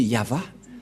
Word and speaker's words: Yahvah: droite à gauche mais la vraie lecture de ce terme c'est yava je vais vous apprendre